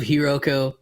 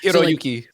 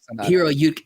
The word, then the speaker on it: Hiroyuki: You love Hiroko. Hiro. God, I can't say his name. I'm so sorry. Hiroyuki. Hiroyuki.